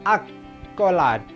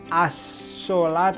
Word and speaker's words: accolade: Mari kita analisis kenapa dibacanya accolade. Kenapa accolade dan bukan assolat atau ascolat atau aksolat.